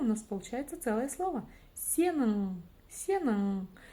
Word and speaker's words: сенің: И да, ударение, конечно, по идее должно стоять на последнем слоге, но так как буква «у», то есть палочка с точкой, произносится очень коротко, то ударение перескакивает на слог вперед. Вот такая вот магия.